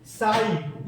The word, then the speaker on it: sin: देखिए एक बार और बता रहे हैं, देखिए साइन, इसको साइन पढ़ते हैं, इसको क्या पढ़ते हैं?